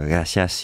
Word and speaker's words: gracias: de parler donc où ils prononcent pas les S par exemple quand il s' dire gracias il dis Gracia voilà plein de choses